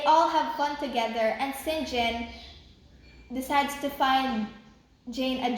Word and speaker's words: St John: and singen or St John but apparently it's pronounced singen and they take her in and they ask